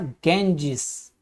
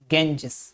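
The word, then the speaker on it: Ganges: और American English में इसको बोला जाएगा गेंजिस, अमेरिकन में गेंजिस।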